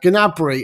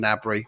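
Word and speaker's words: Gnabry: bayern munich superstar now uh gunabri as he's pronounced i used to call him nabri doesn't really matter yeah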